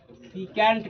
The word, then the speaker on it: secant: सीकेंट कहते हैं, सेकेंट कहते हैं, सीकेंट कहते हैं। इसका प्रोनाउंसिएशन अलग अलग लोग अलग अलग प्रयोग करते हैं।